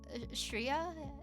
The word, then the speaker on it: Shria: in the world shria shria is how you say it which I think